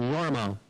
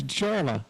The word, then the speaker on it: Jorma: many years ago I said Oh you mean yorma she said no JMA it's spelled j o r m a i said that's pronounced yma no it's JMA so uh a few years go by we